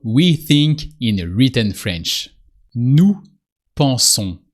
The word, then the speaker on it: nous pensons: Nous pensons. French verbs with nous always end with on, with a silent S.